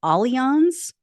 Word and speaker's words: Allianz: An insurance company, I'm going to try to get their name right because it's not pronounced the way that it sounds or the way that it's spelled. I believe it's pronounced Allianz.